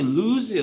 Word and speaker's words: lose: 얘는 발음이 루즈예요. 루즈. 길게 발음해서 루즈.